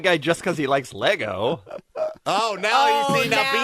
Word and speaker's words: Lego: And now Bean will be correcting people who say Legos. No. Actually, it's Lego.